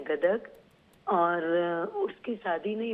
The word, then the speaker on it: गदग: क्या स्पेलिंग है? गदर, GADAG, गदग, DAD।